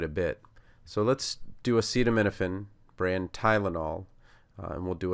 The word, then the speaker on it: acetaminophen: So the uh is actually awah. So it just sounds like uh as in comma.